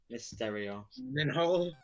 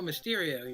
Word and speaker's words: Mysterio: glennon hall gyllenhaal i always say it wrong miss stereo oh mysterio you're right mysterio that was the name of